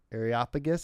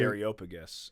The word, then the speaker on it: Areopagus: So they take him to the Areopagus. Is that how you say it? I usually say the Areopagus. Areopagus. But Areopagus is also Areopagus, whatever it is. Areopagus is not correct. I like it though.